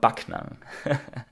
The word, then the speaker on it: Backnang: We have been to a smaller city that is called Backnang.